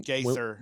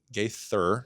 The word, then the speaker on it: Gaither: And and so when Gather Gaither did I say it wrong? Ga Gaither Gaither guy.